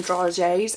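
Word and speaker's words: dragées: the year before and we call them dry Jays and that is spelled d-r-a-g-e-e-s but I believe overseas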